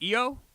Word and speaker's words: Ayo: Ayo is pronounced EO.